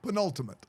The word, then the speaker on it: penultimate: P penultimate penultimate yes what's the difference between what you said and what I said penultimate penultimate penultimate penultimate yes you said it right that time the emphasis on the wrong s yeah yeah that's fine you can do that you said pun instead of pin I don't want but it's pun pun with a with